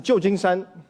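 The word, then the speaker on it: 旧金山: So this pronounces Jiujingshan, okay?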